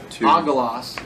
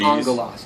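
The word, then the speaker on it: ἄγγελος: So instead of agelos, it's Gs. angelos. Two G's, when you have two gammas back-to-back, the first one is pronounced as an N.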